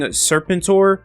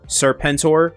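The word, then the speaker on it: Serpentor: So, before we get into the video, I have been saying Serpentur instead of how it's actually pronounced in the G.I. Joe series, Serpenttor.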